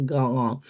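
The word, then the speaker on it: Gauguin: Gogan. Gogan se pronuncia, se escribe gaogín, pero se pronuncia gogan. La u o a u son o y la g i Gogan.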